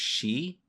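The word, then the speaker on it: 四: So, 4 is pronounced she, I believe, which is their word for death.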